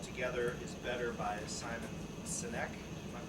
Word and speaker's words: Sinek: little book called Together is Better by Simon Sinek. Am I pronouncing that right?